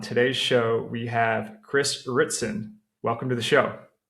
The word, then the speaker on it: Ritson: Welcome back to Prospecting Pros and on today's show we have Chris Ritzen. Welcome to the show. Hey man. Yeah, thanks. Did I pronounce that correctly?